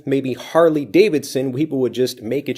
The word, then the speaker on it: Harley Davidson: Harley Davidson Harley Davidson listen carefully to the blending of this Harley Davidson Harley Davidson Harley Davidson this is